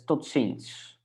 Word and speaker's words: tot ziens: Can you pronounce formal see you again? So that's, let me check. Formal see you. That's tot ziens.